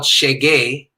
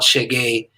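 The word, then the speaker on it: xeguei: so the name of the song is called chagey which is a word in portuguese which means i have arrived it's spelled x-e-g-u-e-i so i sent him the the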